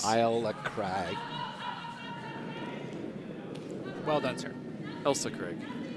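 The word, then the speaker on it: Ailsa Craig: Crag well done sir Elsa Craig Elsa it's pronounced Elsa is it I like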